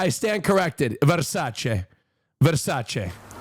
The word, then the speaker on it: Versace: Versace.